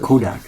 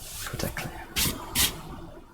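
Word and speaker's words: KotaClan: It's not Kodak, huh? Yeah. Kotaklan. Kota clan.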